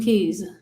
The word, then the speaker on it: qi: I didn't do keys. What if I lost the key? No, it wasn't a key. It was a U. So it was a key, like a lock key, but it's spelled QI.